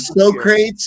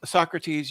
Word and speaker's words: Socrates: he signed it on there you can and so crates he he he signed his too what about copik it's pronounced Socrates you it's so crates can't you read s